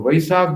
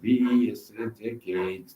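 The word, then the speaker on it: Vaishakh: So Vaishak becomes very holy month for Buddhists, and they call it Vaishak. Vaishak, they don't pronounce Veshak, they write sometimes.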